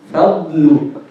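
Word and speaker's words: فضل: Fadlu. If you make the istitala, you don't need to release the sound from the nose. So make it heavy, pronounce it without any ghunna.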